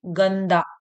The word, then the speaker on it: गंदा: और ये गंदा, आधा ना आपको अपने आप ही उच्चारण में समझ में आ रहा होगा, गंधा, है ना, गंदा, ये गंधा नहीं है, सॉरी, गंदा। अब यहाँ पे चंगा, तो चंग, अंग का स्वर आ रहा है उच्चारण में, चंगा। और ये चंदा, चंदा, इसमें अंग का स्वर नहीं आ रहा है, आधा ना का आ रहा है।